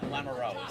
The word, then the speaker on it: Lamoureux: Well, do you want to pronounce Lamoureux or Lamoureux? It doesn't matter either way. Well, which one is the right way? Lamoureux is the right, but it doesn't matter.